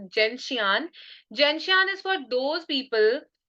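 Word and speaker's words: gentian: 12थ medicine is जेंशियन people call it जेंटियाना also but I pronounce it जेंशियन जेंशियन इज for those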